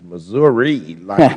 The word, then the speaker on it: Missouri: and now we'll recognize Mr Clay of uh Missouri or Missouri depending on where you are thank you Mr chairman and the correct pronunciation is Missouri expelled with an eye anyway let me uh